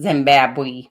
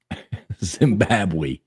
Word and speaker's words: Zimbabwe: boy and you don't pronounce things right it's pronounced Zimbabwe Zimbabwe Zimbabwe um yeah there you go 80% of